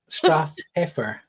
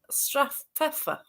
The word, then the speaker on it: Strathpeffer: Strathpeffer, Strathpeffer. perfect. It's a bit. Is it a Scottish word? Yeah, well, Strath is valley.